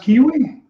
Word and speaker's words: Kiwi: Name is is it pronounced kiwi? Like the fruit kiwi?